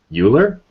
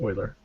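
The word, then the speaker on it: Euler: I'll yeah you check out stuff like project uler Oiler oer it's spelled uler but I I think it's pronounced I've been I've been told it's pronounced Oiler really he's German oh okay all right I'm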